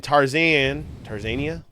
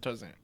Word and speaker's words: Tanzania: Here is a toad in Tanzania. Is that how you say it? Tarzan.